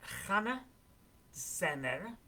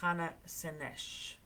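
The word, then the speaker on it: Hannah Szenes: Her name is, there's different pronunciations to her name. It's Hanna Zener or Hanna Szennesh.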